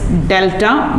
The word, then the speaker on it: delta: As a result, hydrogen gains delta partial plus delta plus and Cl gains delta minus. This is pronounced as, this sign is pronounced as delta.